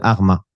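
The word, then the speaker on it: حرمة: renommées de la ville de arma que l'on prononce horma en arabe cette famille est issue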